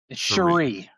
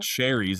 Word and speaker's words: Cherie: Pronounce her name correctly, please. Cherie. Cherie Devaux. It's not cherries. It's not cherry Coke here.